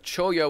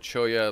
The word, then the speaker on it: cholla: And another piece of cholla wood, as I like to pronounce it. Cholla, like Spanish pronunciation, because it's a Spanish cactus.